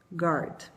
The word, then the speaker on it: guard: Tenta pronunciar aí, como se o U não existisse. Guard.